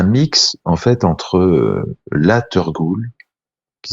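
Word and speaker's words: teurgoule: c'est un un mix en fait entre la turgoule qui s'écrit ça s'écrit T e u R Gou le la tur cool ouais donc ça c'est ça c'est le dessert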